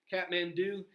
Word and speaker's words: Kathmandu: Kathmandu is the main kind of economic center of the country, the main political center of the country.